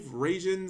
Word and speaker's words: Raijin: Don't see that many Mirror Forces being resolved in a duel, and you don't usually see 5 Raijins summon in a turn. Raijin, there we go, I got the pronunciation down.